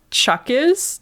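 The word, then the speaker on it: cwtches: All my love and quitches, a Welsh word for cuddle pronounced like chuckis.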